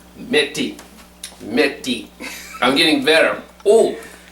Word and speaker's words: methi: Now this, That, how do you pronounce this again? Methi. Metti.